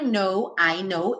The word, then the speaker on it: know: I know, esse K do know não é pronunciado.